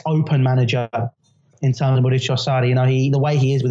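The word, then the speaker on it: Maurizio Sarri: Been watching your pronunciation videos, of course. We've got to get these things right. Mauricio Sarri.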